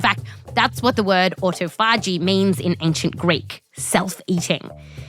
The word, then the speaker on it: autophagy: What is autophagy? Okay, so not to be that guy at the party, but it's actually pronounced autophagy.